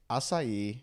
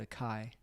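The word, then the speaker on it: açaí: well so okay so I think I've been mispronouncing it so it's acai spelled ACA i yes I got left I almost got left out of Hawaii I called it a Kai that's what I've been called so it's you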